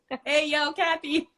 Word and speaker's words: Ayocathy: Especially for, like Lonnie said today, that's exactly how it's pronounced. Hey, yo, Kathy.